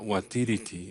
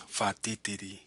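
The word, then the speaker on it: whatitiri: WH, when it's together, it's pronounced like an F. So this word here it's not watiriti, it's fatitiri, which is thunder.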